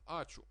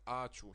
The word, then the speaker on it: ačiū: No, it's not ačiū, it's ačiū, ačiū. The stress is on the a, ačiū.